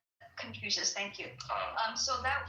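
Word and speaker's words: Confucius: Like confusion like if I'm pronouncing it right, the Chinese philosophy, right? That confusious. Confucious.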